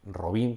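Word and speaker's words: Robín: robin de los bosques robin con acento en la y aunque aquí murcia más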